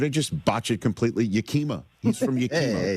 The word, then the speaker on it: Yakima: I know it's Yakima, Washington, okay?